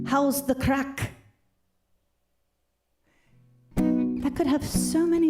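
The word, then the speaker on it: craic: crack okay wait okay so crack is different in ireland than it is in the united states or pretty much anywhere else it's spelled c-r-a-i-c and it's uh basically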